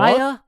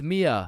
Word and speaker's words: Mia: Maya? Is Maya present? It's Mia.